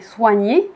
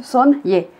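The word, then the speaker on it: Soignée: marque euh son y parce que là vous voyez soigné mais ça se prononce son y parce que ce sont des produits un style un peu asiatique euh mais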